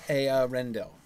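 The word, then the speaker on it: Eärendil: It's two syllables. Arendel. I thought it was A-O-Rendel. It is. No, so then it should start with an A. No, E is pronounced A, obviously.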